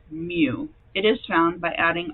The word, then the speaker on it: mu: mean is represented by the lowercase Greek letter mu that's how you pronounce that kind of looks like a cursive U with a little tail at the beginning and it's pronounced mu it is found by adding all the population